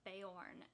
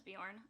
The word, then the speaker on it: Beorn: Or Beorn is how they say it in the movie. I always thought it was Bjorn.